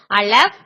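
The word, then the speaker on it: אָלֶף: முதல் எழுத்து வந்து அலஃப். தமிழ்ல எப்படி கொடுத்திருப்பாங்க அப்படின்னா ஆ லே இஃப், ஆலேஸ் அப்படின்னு கொடுத்திருப்பாங்க. ஆனா நம்ம அலஃப் அப்படின்னு உச்சரிக்கணும்.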